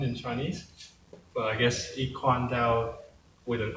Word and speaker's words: I-Kuan Tao: Oh, it's the E is the Chinese pronunciation, and they couldn't think of a better way to say it. It could be I-Kuan Tao. I-Kuan Tao.